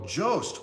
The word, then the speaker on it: Jost: Oh, Jost. Okay, say ghost, but instead of saying GH, say J. So Jost is how you say it.